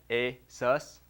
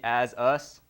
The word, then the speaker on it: ASUS: It's kind of corny, but it's not like ASUS. It's not going to be as us, or, there's the corny part, a chew.